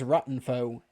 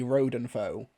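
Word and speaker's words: Rodenfoe: is absolutely fine but he says Ratenfo it's actually Rodenfo Easy mistake to make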